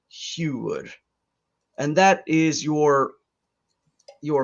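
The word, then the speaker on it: hugr: h u g r i know it looks like it's spelled hugger but it's huge and that is your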